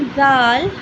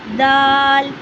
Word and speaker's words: ذ: इफ यू are pronouncing दाल you have to know that दाल इज़ a voice letter. I pronounce दाल दाल।